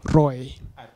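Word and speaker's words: ROI: Kuna tafuta tu at pronounced underscore R-U-I. Roy.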